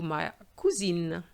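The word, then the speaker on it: ma cousine: more cousin and then be careful for the feminine maccusine so here because of the final e we have to have and because the e at the end doesn't have an accent so it's as if it was silent we are still going to pronounce the end but not the e so that gives you my cuisine how would you answer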